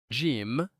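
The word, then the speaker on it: ج: Jim. The sound is ja. It is pronounced when middle of tongue touches opposite side in the mouth.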